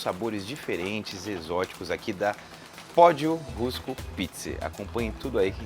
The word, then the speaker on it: Pódio Rusco: Prazer enorme em conhecer, que é o proprietário aqui da Pódio Rusco Pizza. Acertei a pronúncia?